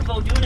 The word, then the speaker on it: Vodou: to put together that voodoo is big business here. Okay? The term voodoo itself is a Western mispronunciation. I know of 3 proper pronunciations: Vodou, Vodun, and Voodoo.